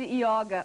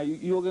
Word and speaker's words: yoga: E no sânscrito, toda palavra que termina em A não tem o O fechado, não tem, em sânscrito não se pronuncia O, né? Sempre se pronuncia O. Então, é O yoga, porque toda palavra que termina com A é masculina. Então, por isso que é yoga, né?